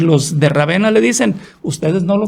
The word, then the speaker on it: Ravenna: Entonces él fue a morir en Ravenna, o Rávena lo pronuncian otros.